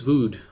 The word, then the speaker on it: Vöd: me you are Darius vood rhymes with rude an ambitious and hard-working